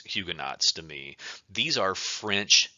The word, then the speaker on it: Huguenots: term here this is huguenots actually it's French so it should be pronounced hugueno but I always struggle with this word it's huguenots to me these are